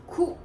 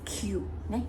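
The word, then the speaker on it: 九: Okay, so in the onyomi number 9 is ku, which is you hear very often now. Most of the time is pronounced as q, q.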